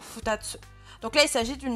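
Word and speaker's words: 二つ: Pareil, le kanji de 2 plus tsu, ça se prononcera toujours futatsu.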